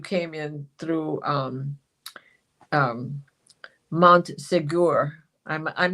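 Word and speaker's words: Montségur: is where you came in through um um Montsegur. I'm I'm not even sure I'm saying it right, but I think that's how you say it. Montsegur.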